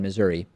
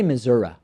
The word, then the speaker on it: Missouri: And while they were debating, there's this Republican state representative in Missouri. I should say Missouri. I guess that's how it's said, right? I think either one is accepted.